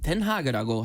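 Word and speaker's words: Den Haag: 그리고 헤이그는 영어식 이름인데 네. 네덜란드어로는 덴하그라고 하는데 네.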